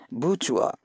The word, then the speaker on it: bourgeois: rules of it why it has to be pronounced in such a way the next is Buju the spelling is G was something else and